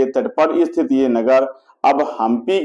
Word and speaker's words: हम्पी: हमप कहा जाता है स्थानीय लोग प शब्द का उच्चारण हा के रूप में करते हैं और पंप पति को हमप पति या हमप पथ कहा गया हपी हम पति या हमप